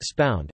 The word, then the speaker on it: Subud: Subud, pronounced spound, is an international spiritual movement that began in Indonesia in the 1920s, founded by Muhammad Subbu Sumohadiwijojo.